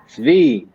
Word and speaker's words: Svi: Svi. He's trying to get you to pronounce it correctly.